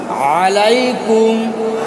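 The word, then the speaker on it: عليكم: আসসালামু আসসালামু আলাইকুম আলাইকুম এই যে আ বললাম এটা হলো আইনের উচ্চারণ আলাইকুম আলাইকুম আলাইকুম এখানে এসে আমরা যে ভুলটা করি যেটা আলাইকুম শব্দটা কি বলি বলেন আলাইকুম আলাইকুম আসসালামু আলাইকুম এই যে আলাইকুম উচ্চারণ হয় এখানে হামজার উচ্চারণ হয় মূলত এখানে আইনের উচ্চারণ হবে আলাইকুম কি হবে বলেন আলাইকুম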